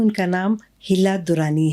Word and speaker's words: Hilla: अच्छा तो इसकी प्रोनाउंसिएशन है हिला।